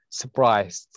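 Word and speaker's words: surprise: صفه اللي هو طبعا حرف الار هنا ما تنطق سبرايز تمام طيب شكرا لك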